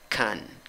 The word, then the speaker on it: can: Si no hay necesidad de enfatizar la palabra, pronuncias con schwa, la que no es ni a, ni e, ni o. Can, can, can.